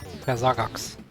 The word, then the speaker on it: Persagax: Persagax. I pronounce it very German if you want. Yeah, how would that sound? Persagax.